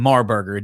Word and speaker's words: Marburger: the great and powerful marberger did i say your name right you said it right my brother you said